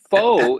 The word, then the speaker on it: faux: I read some memory foe is spelled f-a-u-x when they're using the word fake right and if you are